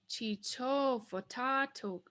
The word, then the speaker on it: chichofatatok: So we're going to lengthen the even numbered light syllables. So now our word is pronounced chichofatatok, chichofatatok.